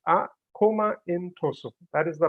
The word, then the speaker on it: Akoma Ntoso: standards for different sectors so how do we pronounce a comment oh so it's a coma intro so that is the right way to pronounce